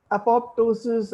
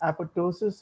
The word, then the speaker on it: apoptosis: of endogenous death programs now apoptosis and apoptosis are two alternative pronunciations the english tell me that it's apoptosis i'll try to use that pronunciation but by and large